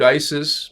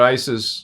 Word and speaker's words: Isis: Isis is a collective of beings, and there are numerous individuals and bodies named Isis, personalities, characters, and actually it was Isis. It was pronounced. It was not ISIS.